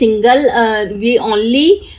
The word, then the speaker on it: university: But here sound is university. Why is the sound here? Consonant sound is here.